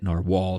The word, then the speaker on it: Narwhal: the Narwhal or narvaler they they spell it like narvaler but say it in our wall just like they used to actually spell it that's that should probably